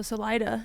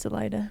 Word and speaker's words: Salida: It's also Salida instead of however you're supposed to say Salida in Spanish.